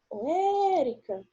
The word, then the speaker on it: Érica: sílaba tônica por exemplo o érica quando fala assim érica qual qual que é a sílaba que se destacou mais ué e o meu